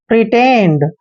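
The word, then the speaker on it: pretend: टी ई एन डी पी का उच्चारण प करेंगे आर को र लिखेंगे ई को ई की मात्रा पढ़ेंगे और टी को हमने ट पढ़ना है ई को ए की मात्रा और एन को आधान और डी को ड पढ़ते हैं प्रिटेंड प्रिटेंड प्रिटेंड होता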